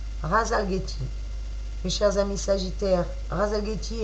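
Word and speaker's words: Rasalgethi: Amis Sagittaires, votre étoile s'appelle Ralzageti. Je répète, Ralzageti, qui s'écrit R-A-S-A-L-G-E-T-H-I. R-A-S-A-L-G-E-T-H-I. Razalgeti.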